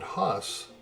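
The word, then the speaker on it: Hoss: tough he was named huss and a generation of kids grew up thinking he was named horse because of that but only in maine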